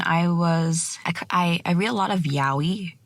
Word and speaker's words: yaoi: read a lot of yaoi. I actually pronounce it yao. For a long time, I just ignored the I.